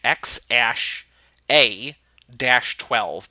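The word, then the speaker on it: X Æ A-12: don't x AE which is like they it's pronounced ash X ash a - 12 but they just changed it to - XII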